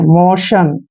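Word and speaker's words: motion: से एक को चुनना एम ओ टी आई ओ एन देखिए एम का उच्चारण क्या करते हैं म और ओ को आपने क्या पढ़ना है ओ और टी आई ओ एन को शन पढ़ना है मोशन मोशन नेक्स्ट है देखिए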